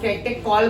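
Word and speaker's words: catechol: तो कैटेकॉल बोलना, चॉल मत बोलना, ये तो मैंने बस बताया।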